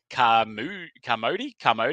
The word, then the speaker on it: Carmody: And then we got Matt Carmody, I believe his name. So Carmody rhymes with Harmony.